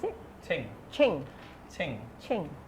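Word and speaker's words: 清: Qing means it's very, very clear. How to pronounce it? Qing. Qing. Qing. Qing. Like Qing Dynasty, very qing.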